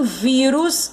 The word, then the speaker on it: vírus: E em vírus, a sílaba tônica é o vi.